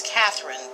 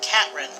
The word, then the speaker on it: Catherine: My name is Catherine, but he pronounces it Catrin, omitting the TH sound.